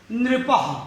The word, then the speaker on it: नृपः: शब्द है नृपः। क्या शब्द है? ना है, उसमें री की मात्रा लगी है, प और उसके बाद हलंत है। तो नृपः, नृपः माने राजा।